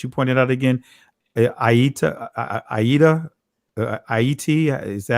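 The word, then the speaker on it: Ayiti: Aida, Aiti. Is that how you pronounce it? Yeah, I-E-T. Yes, I-E-T. It's very Okay, interesting. So Aiti. Okay, don't worry about the H.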